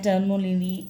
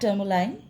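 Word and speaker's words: tourmaline: मैं टर्मोलिनी प्रोनाउंस करती रहती हूँ, खैर। तो ये है ब्लैक टर्मोलाइन।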